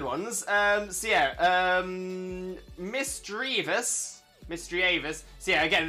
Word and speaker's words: Misdreavus: makes sense to me I've heard people say Miss dravis and misdreavus um but mystery mysterious misdreavus seems to make the most sense in my mind but I I do if if someone says Miss dravis I don't think I'd have a problem with it um I understand where that comes from so yeah um Miss